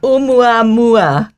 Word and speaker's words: Oumuamua: Waldman over here and tell us, how do you pronounce this Hawaiian name? Oumuamua? Oumuamua. Oumuamua. Oumuamua, yes.